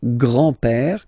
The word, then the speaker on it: grand-père: So, le grand-père, grandfather, le grand-père, remember, accent grave like that, it's this open père, le grand-père, le grand-père.